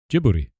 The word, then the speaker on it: Djibouti: Djibouti? Djibouti? That's how it's supposed to be pronounced. I might. No, I'm checking it. Yeah, Djibouti.